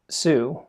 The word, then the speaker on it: Tsu: the reasons I like Sue and you pronounce that like the word tsunami I first want to